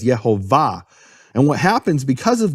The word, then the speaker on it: Yehovah: beginning and more importantly where's the emphasis of the of the word the emphasis of the word is in the final syllable it's marked that way in all Hebrew manuscripts with vowels no question about about it all the Hebrew manuscripts with vowels mark it as yehovah and what happens because